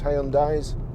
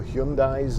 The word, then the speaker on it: Hyundai: Very reliable cars, Hyundais. or Hyundais as they're supposed to be pronounced, I think.